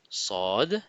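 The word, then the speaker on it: صاد: La lettre Sad fait aussi le son S comme sine. Mais attention, c'est un S emphatique. C'est un S prononcé avec l'arrière de la langue qui doit monter vers le haut du palais. Imaginez que vous avez un peu la bouche pleine.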